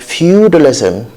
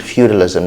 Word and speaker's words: feudalism: So let's move to the next word, feudalism. Feud, from the word feud, feudalism, not feudalism.